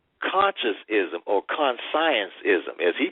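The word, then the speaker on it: Consciencism: And his book called Conscientism or Conscienceism, as he pronounced it, he quoted Karl Marx.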